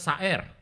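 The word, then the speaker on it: שָׂעִיר: di Alkitab itu adalah saer. Saer. Syair lagi. Pakai y, benar saya pakai ayin soalnya pakai y gitu. Tapi bacanya syair gitu.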